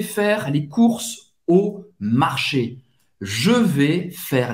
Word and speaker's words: courses: Les courses. O U tem o som da letra U em português. Les courses. Acaba no S. E S no final você não vai pronunciar.